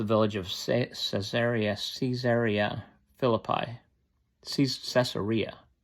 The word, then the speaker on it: Caesarea: Caesarea, I think is how they often pronounce it.